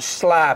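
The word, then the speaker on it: Schley: paper shell which is a Sly variety which is spelled a little different s c h l y so it's spell yeah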